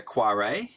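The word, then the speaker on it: Koyré: the uh pronunciation so it's Alexander quare Alexander quare has called the closed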